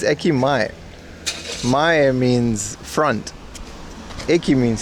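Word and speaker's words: 駅前: I was training her out the difference in ekime. I mean, you you can say it that way. That's just not how you pronounce it. It's ekimay.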